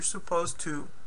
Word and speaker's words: supposed to: completed okay pronunciation note the D in supposed to is usually not pronounced you're supposed to okay so if you